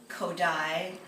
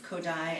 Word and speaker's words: Kodály: The traditional elementary methods of Gordon, Orff, Kodály, and that's spelled K-O-D-A-L-Y, and Dalcroze remain a mainstay in American education, regardless of this repertoire's minimal presence in musical pop culture.